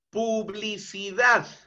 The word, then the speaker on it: publicidad: Publicidad. Separo la palabra en sus sílabas iniciales, o perdón, sus sílabas componentes. Publicidad. ¿Y dónde se encuentra el mayor impulso de voz? En la última sílaba. Dad. Ahí está presente entonces el acento prosódico.